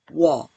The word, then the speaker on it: 워: 우, 어, 워. 우어, 우어워워워워. 우어를 빨리 발음하면 워가 되지요.